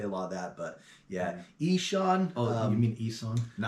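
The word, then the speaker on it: Ihsahn: For the longest time, we pronounced it Eson. You know, and then it was only like a couple weeks ago that I was like, oh, I guess he says Eshan.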